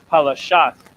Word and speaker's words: Palashat: Palashat is how you say the Philistines in the LASHAWAN QADASH.